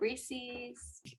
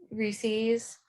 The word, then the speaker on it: Reese's: rhymes with pieces.